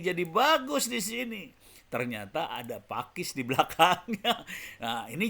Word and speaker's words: Paques: kalau buat saya juga baru tahu Pakis dibacanya pake Pak wes dibacanya Pakis Jangan sampai salah ya teman-teman Dan ini ternyata